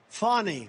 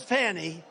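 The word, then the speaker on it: Fani: All these local cases like Fonnie Fi, it's spelled Fanny. It spelled Fanny like your ass, right, Fanny? But when she became DA, she decided to add a little French, a little fancy.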